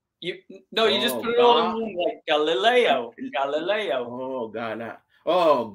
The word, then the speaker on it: Galileo: little okay Leo like no you just put Galileo Galileo oh oh g galoo g Leo two three different syllables no G G oh now I'm getting